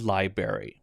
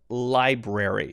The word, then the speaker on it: library: you don't pronounce it library okay it's library so you have that weird r again l-i-b-r-a-r-y for february which